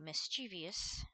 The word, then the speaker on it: mischievous: I always add that extra E sound in there.